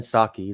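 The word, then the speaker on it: Psaki: jen pat is it pesky i never passed guy i never said her name never knew her how to pronounce her laughter hockey what is it gen saki the the p is silent okay okay yeah she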